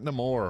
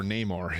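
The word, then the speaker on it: Namor: And next we got Neore or Neymar. It's got two different pronunciations by the characters in game.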